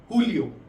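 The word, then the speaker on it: julio: हैं हुन हुनियो हुनियो इसलिए क्योंकि हम स्पेनिश में जे को हम एच की तरह प्रोनाउंस करते हैं। तो जून हो जाएगा हुनियो। सेम अगर हम बात करते हैं जुलाई की जुलाई हो जाएगा हुलियो।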